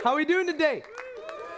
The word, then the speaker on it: Tejas: TEJAS : As I was so lovingly Tejas. It's pronounced like advantageous.